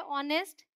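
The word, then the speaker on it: honest: rhythm ये है ऑनेस्ट एओ से शुरू होने वाले कई ऐसे वर्ड्स है जिनमें एच साइलेंट है हम ओ से ही शुरुआत करते हैं यह समझ के जैसे एच लिखा ही ना हो तो ये है ऑनेस्ट यह है आवर ये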